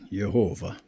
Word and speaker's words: Yehovah: Yehovah. All right? Yehovah. Now we don't need to get hung up on this. Now in English they pronounce it Jehovah, which is fine.